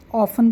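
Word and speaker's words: often: यहां पे friends T silent है। ठीक है? तो हम इसको ऑफन बोलेंगे। बट अगर हम न्यू उसके अकॉर्डिंग देखें तो आजकल इसको ऑफन भी बोलते हैं। ठीक है? तो इसको ऑफन और आपको कहीं-कहीं पर अगर आप किसी को एडवांस इंग्लिश बोलते हुए सुनोगे तो आपको ऑफन भी सुनने को मिल जाएगा। ठीक है? अदरवाइज इसमें ऑफन में टी साइलेंट है।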